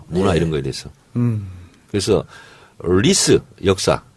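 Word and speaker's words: 历史: 그래서 리스 역사. 네. 역사를 리스라고 발음하거든요.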